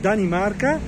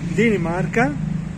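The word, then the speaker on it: Dinamarca: Habíamos tenido un poco de problema con la pronunciación, porque no se pronuncia, nosotros los pronunciamos Dani Marca, pero aquí en español se dice Dini, como Dini Marca, Dini Marca.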